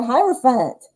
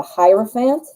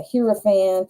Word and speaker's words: hierophant: write your name the hierophant hierophant i cannot say it when i see it spelled correctly i always say the hero fan the i say it wrong every time so i like the